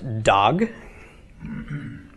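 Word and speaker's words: דג: followed by a gimel so we pronounce the D of the DA late' the AH of the comments and finally the G of the gimel so this is pronounced dog dog okay it's not a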